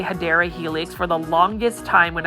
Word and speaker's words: Hedera helix: And right here is a Hydra Helix. Royal Hustler, or what the correct way to say it is Hedera Helix.